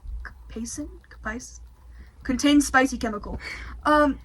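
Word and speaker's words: capsaicin: Um this chip like most spicy things contains um capiskin I think is how you pronounce it. C A P A I S C I N Capacin Kapis contains spicy chemical.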